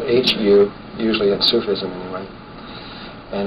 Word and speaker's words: hu: It's spelled H-U, usually in Sufism anyway.